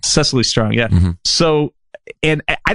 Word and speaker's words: Cecily Strong: Cecily Strong. Cecily Strong, yeah.